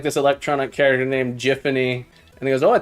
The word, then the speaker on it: Giffany: thought her name was giffany I thought her name was giffany uh no it's pronounced jiffany I forget what it's